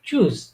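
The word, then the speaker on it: Tschüss: মুখ ইয়ে করে মুখটাকে গোল গোল করে তারপর উচ্চারণ করবে ঠিক আছে এটা হচ্ছে কি চুজ চুজ চুজ চুজ মানে কি বিদায় ঠিক আছে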